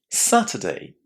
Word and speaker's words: Saturday: Did you hear how I pronounce the letters you are inside this word? Listen again. Saturday. It's a very short syllable and it contains a very short vowel sound like uh sutter. Saturday. Again, you can say the R, of course, and say Saturday. But don't pronounce the letter U as uh because that's incorrect.